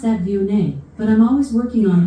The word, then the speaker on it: Viognier: Viognier? Yep. Is that how you pronounce that?